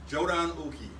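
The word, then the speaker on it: jōdan uke: a basic header block a head block is pronounced jodan Uki Jordan means black Jordan means upper the basic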